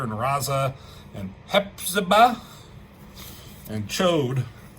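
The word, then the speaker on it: Ch'od: and Cho. Chad. Chad. How do you spell say his name? They said Cho in the animated series. I always thought it was Chad.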